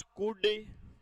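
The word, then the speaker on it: could: हाँ शाबाश, तो विल का पास्ट वुड, शैल का पास्ट शुड, कैन का पास्ट कुड, कुल्ड नहीं होता, वुल्ड नहीं होता, शुड नहीं होता है, एल साइलेंट है।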